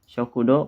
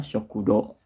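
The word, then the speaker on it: 食堂: kantin ada zimusyo ya perhatikan disini sokudo karena ada uh di belakang ini ini dipanjangkan ya sokudo Oke selanjutnya ada Robbi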